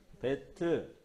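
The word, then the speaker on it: בית: 예, 뱃. 뱃. 한국식 발음으로 배트.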